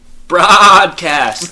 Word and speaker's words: Brahdcast: also when you say it's actually pronounced the broadcast like bro you know what i mean